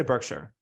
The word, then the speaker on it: Berkshire: go for it Burkshire is it Berkshire or Burkshire how do you say it I say Burkshire yeah I think you're right okay Berkshire alphabet mck